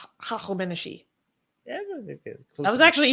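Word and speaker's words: هخامنشی: Hachameneshi. Hachameneshi.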